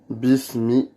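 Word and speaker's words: بسم: Bismi. B-I-S-M-I. On doit bien montrer le S dans la translittération quand on prononce bismi.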